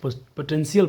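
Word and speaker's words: potential: 10 दली इज एसेंशियल देखो अब टी आई एल जब भी मिलेगा इंग्लिश म देखना टी आई एल साथ में जब भी आएगा ना ये तो ट नहीं पढ़ता है स बन जाता है जैसे देखो पोटें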